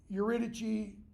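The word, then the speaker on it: Eurydice: a messenger and then we have Crown's wife urichi is how her name is usually pronounced okay now if you remember in edus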